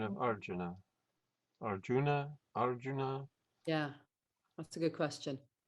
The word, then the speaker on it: Arjuna: We don't have I usually, I is anglicized. We call Arjun. Arjun. You just say Arjun.